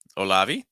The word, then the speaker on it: Olavi: interesting okay uh olavi olavi is how I'd say that stress like a Sy um no that that first like oh oh olavi just so real quick